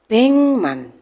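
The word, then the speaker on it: 백만: adalah back 100 be Maka kalau R juta bengman bengman tulisannya BMan dibaca bengman kemudian 10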